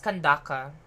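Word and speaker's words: Candace: do like an kandaki it's kandakapala it's kandaka fun fact that's how they pronounce it there it's kandaka I haven't used Sino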